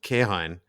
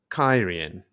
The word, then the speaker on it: Cairhien: you guys before recording pronunciation of what thus far I have called kahine is actually kyrian ridiculous I take exception